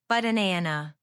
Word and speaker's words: banana: But a native speaker says, banana. The first A is lazy. But. The middle is strong. Nan. The last is lazy. But nan.